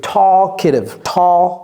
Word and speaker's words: talkative: Talkative, c'est un K. T-A-L-K. T-I-V-E. Talkative. Ne prononcez pas le L.